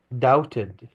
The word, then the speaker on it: doubted: Miss Fowley doubted. طبعا ما نقول البي هوني silent لا تلفظ.